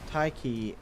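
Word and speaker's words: Tyche: in the next chapter taiki is a letter swap spelling of an ancient Greek word that represents the Greek deity of Fortune which is why I'm pronouncing it that way by the way and I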